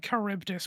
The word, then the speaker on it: Charybdis: It took me a very long time to start pronouncing Charybdis properly, and I'm still pretty sure it's not entirely correct, so...